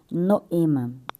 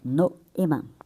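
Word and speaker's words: νόημα: Primeiramente eu vou trazer o significado da pronúncia grega da palavra noema, a pronúncia noema, né? Noema. Então, gente, o no ele é mais eh enfatizado.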